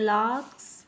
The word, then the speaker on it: lark's: Today we are going to read chapter number 2, The Lark's Nest. What is the name of the chapter? The Lark's Nest. R is silent. We will read this word larks.